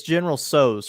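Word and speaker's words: General Tso's: the uh the pronunciation is it General so's or general sows it's General sews for sure is it well I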